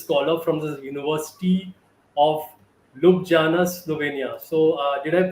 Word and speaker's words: Ljubljana: an Erasmus Mundus scholar from the University of Ljubljana, Slovenia. So did I pronounce that right? It's Ljubljana. Yes. Ljubljana, okay.